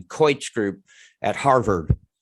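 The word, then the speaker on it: Keutsch: is the couch well i imagine it's pronounced like my name coich group at harvard right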